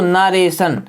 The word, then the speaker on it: narration: जैसे लिखा है दोस्तों नरेशन सैन पढ़ते हैं इसको टी ओ एन